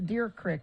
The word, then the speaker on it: Deer Creek: morning there's crashes down there and up to deer crick i said it right that time bill yeah